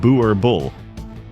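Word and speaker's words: Boerboel: Pronounced Boer Bull, this dog was bred not to look intimidating, but to be intimidating.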